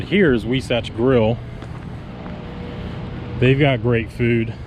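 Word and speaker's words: Huisache: out we satch grill it's h-u-i-s-a-c-h-e so it's like husachi but it's actually pronounced we satch i know we do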